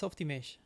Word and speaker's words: Softimage: know how to pronounce it how do you pronounce oh I think it's Softimage Softimage okay as being I wasn't even in